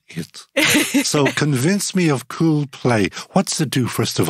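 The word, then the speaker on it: Kuul Play: Her business called Cool Play, that's spelled K-U-U-L, Play.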